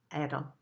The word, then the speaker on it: Adl: And the practice is, it's spelled A-D-L, A-D-L, and it's pronounced Adel.